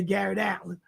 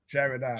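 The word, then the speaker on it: Jarrett Allen: wished that the Nets had never traded away Garrett Allen. Jared. Yeah. Jared Allen.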